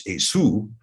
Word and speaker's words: Esau: So we see here that this, and I'm not necessarily going to refer to Esau as from here on out as Esu, but I think that is the better pronunciation.